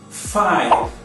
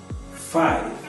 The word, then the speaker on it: five: Via de regra, a vogal E no final das palavras não é pronunciada, mas muitos brasileiros pronunciam essa vogal, o que torna a pronúncia errada e ainda acrescenta uma sílaba na palavra. Veja alguns exemplos. Dance, dance, apenas uma sílaba, e não dance. Outro exemplo, don, don, e não doni. Police, police. Five, five, e não five.